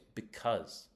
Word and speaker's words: because: The next one is a connector, so it's going to go in the second syllable. It's because. Yeah.